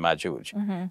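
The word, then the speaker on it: مأجوج: and magoog whereas in in arabic it's the soft g like in george so it's ya and majooj so basically we're talking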